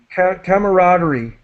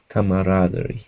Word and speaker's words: camaraderie: talking wish her and an insector camar yeah cameraderie camaraderie yeah okay then one day the manager from